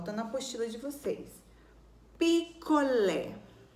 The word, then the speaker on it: picolé: Picolé. A sílaba mais forte é o lé. Ela é a última. Então, por ela ser a última, nós classificamos ela como oxítona.